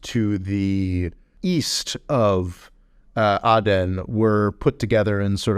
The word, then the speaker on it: Aden: six years of coverage I've been pronouncing it aen but actually uh some recent research has indicated to me that I should go with Aden so the city of